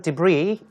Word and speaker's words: debris: A day after dirt and construction debris. 여기까지가 주어인데요. debris 할 때 s가 발음이 되지 않습니다. 그래서 debris라고 하지 않도록 하시는 게 좋겠는데요.